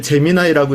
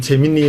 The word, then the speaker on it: 제미나이: 오픈 AI는 오픈 AI 우리가 읽는 식으로 엔트로픽, 뭐 구글, 딥마인드, 메타, GPT, 클로드 저는 이제 제미나이라고 읽는데 어떤 경우는 재미니 뭐 이렇게 읽을 수 있으니까 내가 원하는 형태로 우리가